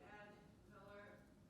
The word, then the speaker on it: ad valorem: To oppose the ad valorem, how do you pronounce that?